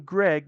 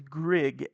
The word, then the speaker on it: Grig: I called him Greg, but his name is Grig, actually.